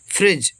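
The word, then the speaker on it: fridge: huge animal विशाल जानवर फ्रिज एफ आर आई एफ आर इसमें रा होगा आई छुटी के मात फ्री डी साइलेंट जी से जा फ्रिज मतलब फ्रिज जे य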